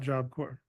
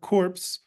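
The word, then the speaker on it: Job Corps: Apple Core um and so it's not corpse um we make sure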